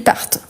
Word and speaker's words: partent: Ici, ce que je prononce, c'est le T à la fin. Donc, ils sortent, ils partent.